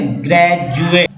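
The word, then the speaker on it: graduate: तो इस तरह से ग्रेजुएट। तो ग्रेजुएट में डी को जो है ज उच्चारण किया गया है।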